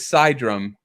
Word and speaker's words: Cydrum: So it is Cydrum, like psychedelic or cyberpunk.